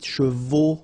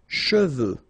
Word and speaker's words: cheveux: Usually this one is a bit of a problem because some of the students normally pronounce it chevaux, okay? So try to keep in mind that you get E-U here. So it goes like okay, and then final X not pronounced, final X, should pronounce it the French way, final X is not pronounced, so you get che, and then you get veux, okay, cheveux, okay, and